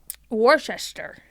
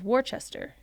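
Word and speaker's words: Worcester: The pron the right way to say it is to say it not looking at the letters because if you look at it, it says Warchester. Yeah.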